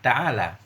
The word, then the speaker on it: تعال: Bagaimana cara membacanya? Bi fathil lami, dengan fathah lam mutlakan, hal keadaan fathah lam mutlak alal asah. Bukan, mutlakan. Ta'ala ini fathah lam mutlak, artinya dalam kondisi apapun dia tetap fathah lamnya.